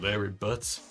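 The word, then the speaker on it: Larry Butz: At this point, this is only a formality, but this court finds the defendant, Mr. Larry Butts, rhymes with Harry Butts, not guilty.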